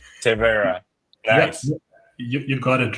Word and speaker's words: Tevaera: what's the mission of terra sorry sorry I always pronounce it wrong terra you you got it right you know uh it's tea plus era right uh so that's that's